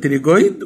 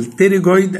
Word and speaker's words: pterygoid: انا هنا كسرت المندبل هلاقي ديب للمندبل عضلتين تانيين، واحده اسمها لاترال تريجويد والثانيه اسمها ميديال تريجويد. ذا بي از سايلنت لا تنطق. يبقى lateral pterygoid and medial pterygoid.